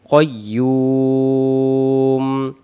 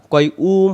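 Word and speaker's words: قيوم: মু দেওয়া আছে এখানে দম ছেড়ে দেওয়ার জন্য কাইয়ুম পেশটাকে বাদ দিব মনে মনে এখানে একটা সাকিন দেব এটাকে বলে আরিদি সাকিন উচ্চারণ হবে কইয়ুম কইয়ুম না কয়ুম হবে না কইম ইয়া পেশ ইউ যদি আমরা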